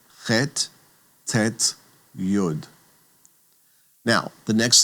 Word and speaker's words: yud: The next letter is called yud. And yud is that smallest of all Hebrew letters that looking at looking at it written between the margins, it's kind of suspended out in midair. and yud. That small letter gets the Y sound. Y as in yellow.